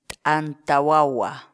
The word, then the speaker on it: T'anta wawa: de vídeos en la que te enseñamos a pronunciar algunas palabras en quechua así que nuestra palabra del día por hoy es anta guagua anta guau guau anta guau guau la palabra